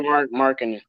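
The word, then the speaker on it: Markkanen: I can't pronounce his last name. Forgive me. Laurie Markkinen.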